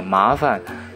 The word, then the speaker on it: 麻烦: cái chữ phản này chúng ta đọc nhẹ thôi, đọc là mã phản.